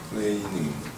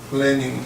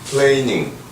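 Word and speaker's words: planing: 칼이라는 거는 루 루 플레이닝 발음을 잘해야 돼 플래닝 아닌거 루 플레이닝 마취를 하고 하기 때문에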